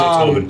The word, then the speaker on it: Oban: It's Oban.